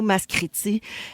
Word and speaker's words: Maskriti: de quelqu'un qui capote quand tu dis le mot mascriti.